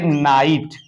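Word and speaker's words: knight: भी आ सकता है के एन आई जी एच टी इसको पढ़ेंगे नाइट क्या पढ़ेंगे नाइट तो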